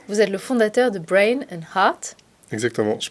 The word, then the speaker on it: Brain & Heart: Bonjour, Vous êtes le fondateur de Brain and Heart, exactement, je prononce bien, très bien.